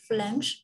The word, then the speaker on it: phlegm: I think the pronunciation is phlegm, phlegms. Perfect. It's actually perfect. Yeah. So PH is like F and then the G is silent. So it's phlegm.